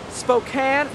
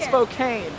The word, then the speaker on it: Spokane: good we must show our new friend wait pronounce it for us one more time okay Spokane not Spokane not some of you guys back home can